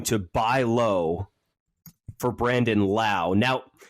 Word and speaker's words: Lowe: buy low for Brandon Lau now if we pronounced his last name differently like Nathaniel Lowe of the Texas Rangers